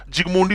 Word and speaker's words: Zsigmondy: और इसी इफेक्ट को यूज करके, ये साइंटिस्ट का नाम है ZSIGMODNY, जेड साइलेंट रहेगा, एस साइलेंट रहेगा, जिगमोंडी बोलते हैं।